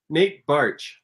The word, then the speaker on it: Baertsch: Say your name. Nate Barch. Nate Baertsch. Nope, that's not what he said.